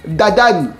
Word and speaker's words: Dadan: simplement d'envoyer Luffy chez dadane et ouais là je l'ai bien prononcé vous êtes contents les puristes Dadan Dadan c'est chelou quand même